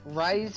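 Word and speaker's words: Raize: Is that how you pronounce it? Yeah, Rise.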